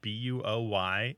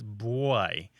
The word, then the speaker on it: buoy: there pronounces the word buo y as boy although some say it as boy almost as if there's a w after the B although it's less common